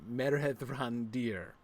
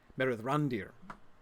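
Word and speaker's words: Mithrandir: The I of course I'm saying it's not Mithrand Mithrander. Yeah, of course that's somebody else. It's not meander. Um, the I is pronounced like E. Mithrand, Meer Randir, Meth Randir.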